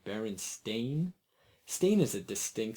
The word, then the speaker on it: Berenstain: make little jokes about most people clearly remember the sound Steen or Stein both would be how Baron Stein might be pronounced not Baron stain Thomas smiled that's a fair argument you're right I'll admit even now the correct pronunciation Baron stain sounds downright foreign the thing is we're